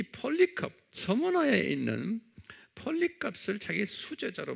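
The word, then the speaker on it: Polycarp: 그래, 한번 발음해 보세요. 폴리캅, 아주 유명한 사람이에요.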